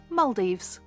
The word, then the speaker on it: Maldives: is also here that I learned the correct pronunciation Maldives we ate at the over water Italian Vista